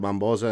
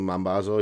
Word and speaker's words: Mambazo: I called it Mambosa and I had the Mambazo, yeah.